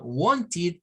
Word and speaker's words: wanted: está diciendo es que en los verbos que terminan en chi y en ti se agrega una sílaba más que se produce del sonido de una y bueno es que no es la i es la i es la corta es la raíz que se corta acá sí y el sonido de una d it Y entonces decimos